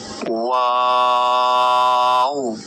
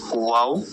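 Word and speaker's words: و: এরপর ওয়াও ওয়াওটা 4 আলিফ। ওয়াও, মুখের খালি জায়গা হতে ওয়াও উচ্চারিত হয়। ওয়াও ওয়াও, ঠোঁটটা গোল করবেন, গোল করে ওয়াও এভাবে উচ্চারণ করতে হবে।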